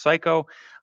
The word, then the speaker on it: Cayko: l a n c last name c a y KO it's pronounced psycho uh but I will